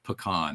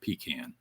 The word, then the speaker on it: pecan: It's pecan. It's not pecan. everybody says pecan. I'm like, it's pecans.